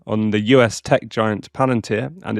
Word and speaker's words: Palantir: How do you pronounce it? Palanteer. It's Palanteer.